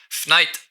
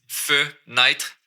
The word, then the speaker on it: fenêtre: Fenêtre. Au lieu de fenêtre, j'ai skippé une syllabe ici. Fenêtre, fenêtre. Fenêtre. Par la fenêtre. Même j'enlèverais peut-être le R.